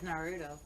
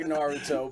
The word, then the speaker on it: Naruto: Dragon Ball is Neither is our Naruto. novella. Neither is Naruto.